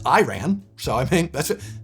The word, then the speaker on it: Iran: Do you know Iran is pronounced wrong by mostly everyone except Iranians? The I is supposed to be pronounced like Italy.